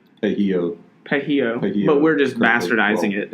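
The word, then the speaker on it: pollo: That's actually, don't pronounce the L. Pejio.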